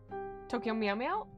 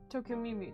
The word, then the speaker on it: Tokyo Mew Mew: Tokyo Meow Meow? Tokyo Mew Mew.